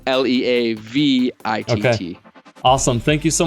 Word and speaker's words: Leavitt: And just to clarify, because my name doesn't sound like it's spelt, it's Leavitt.